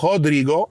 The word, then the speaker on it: Rodrigo: likes of let's say Rodrigo um or Rodrigo if you want to use the um Portuguese pronunciation while it's affected Rodrigo